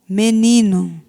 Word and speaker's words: menino: Menino, aparentemente termina com U, mas a escrita é com O.